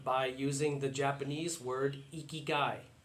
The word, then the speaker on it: ikigai: using the Japanese word ikigai. It's a Japanese word which is spelled I-K-I-G-A-I, ikigai.